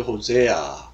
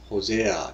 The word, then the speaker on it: Hosea: That came to Hosea. Hosea. 자, 우리 호세아 그랬는데 이제 영어식 발음 호세아 이렇게 하죠.